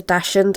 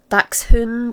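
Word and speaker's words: dachshund: I believe it's a dashund. I know it's not pronounced that. It's what? Dax hund or something. It does sound right.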